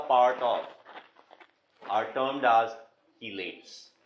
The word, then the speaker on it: chelate: of are termed as chelates. कुछ लोग चीलेट बोलते हैं, कुछ चलेट भी बोलते हैं, कुछ छीलेट भी बोलते हैं, but the pronunciation better would be chelate.